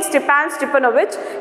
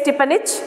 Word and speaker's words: Stepan Stepanovich: So he says there without, instead of saying Stepan Stepanovich, he says Stepanich.